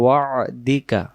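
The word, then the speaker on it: وعدك: ওয়া ওয়া'দিকা, এই যে আইন অক্ষরটা বাংলা দিয়ে লেখা সম্ভব হয়নি, আমি এখানে দিছি ওয়া ওয়া'দিকা। এই যে এটাকে, এই যে হাইপেন দিয়েছি, এটাকে আইনের মতো উচ্চারণ করবেন।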